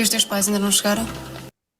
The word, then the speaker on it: chegaram: And that's why the nasal sound here, the M will make the A nasal, it's not chegarão, otherwise it's future tense.